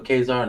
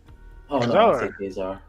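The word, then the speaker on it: Ka-Zar: before 1977 no and for Brother John for kesar no appreciate you I appreciate you pronouncing that right not a problem Kazar Kazar um so it's 78 85 correct and it's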